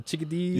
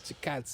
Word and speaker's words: Chikadze: Chikadze, that was the chickadees. Yeah, I didn't know how to pronounce it, and then I heard the Chikadze. dude say it. I'm like, oh, okay, that's how you do it.